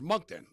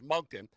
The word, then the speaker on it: Moncton: And it's like, bro, it's Moncton. Like, so they should have told him, hey, Tony, by the way, it's Moncton.